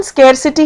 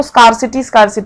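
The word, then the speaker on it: scarcity: है किसी चीज की इसकी प्रोनाउंसिएशन स्केयरसिटी है जबकि बहुत लोग इसको स्कार्सिटी कहते हैं वो नहीं है और इसका एक और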